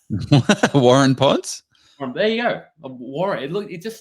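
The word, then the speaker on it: Waurn Ponds: Warun Ponds?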